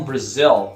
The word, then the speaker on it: Brazil: país from Brail fha a pronúncia de Brasil I'm from Brazil ou você pode responder